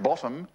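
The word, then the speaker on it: ⊥: modeled by a special symbol upside down T pronounced bottom and that's the bottom value in a in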